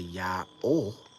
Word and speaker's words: YAOH: If that hey at the end just represents the full sound of the O, it's not always necessary. You can say YAOH and you can spell it Y-A-O or YAOH, right? And still maintain the singularity of worship and the integrity of the sound.